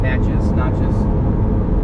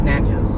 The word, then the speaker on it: Natchez: Natchez. I think it's Natchez, because someone said it was like matches with an N.